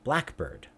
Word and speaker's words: blackbird: Compound nouns. We put stress on the first part. Think about, we have a compound word. Compound, of course, being words with two parts. Blackbird. What kind of bird is it? It's a blackbird.